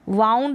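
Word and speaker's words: wound: अब इसको वाउंड और वुंड दोनों तरीके से प्रोनाउंस करते हैं, जो भी आप प्रेफर करें, तो इसको वुंड पढ़ें या वाउंड।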